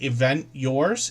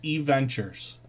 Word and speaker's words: Eventures: That's how you pronounce that channel name. Uh, that looks like event yours. It's Eventures. Um, and then hopefully everybody will connect with them.